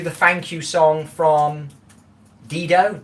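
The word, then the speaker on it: Dido: I think I've been listening to the thank you song from Dedo. Ditto. I always get her name wrong.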